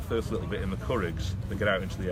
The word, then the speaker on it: Curraghs: They go and do the Curraghs first of all, which is really nadgery and horrible. Not crafts, like I used to say it.